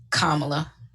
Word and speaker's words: Kamala: hers or mine hers kamala and it is oh no you said kamala and it is kamala kamala got it like the think of like an accent on the a and hopefully i'm saying